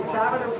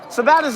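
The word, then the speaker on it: Sabattus: Two-time Oxford Plains Speedway champion goes next on the grid from Savitus, Maine, the Stanley X Can he pronounce that right just once?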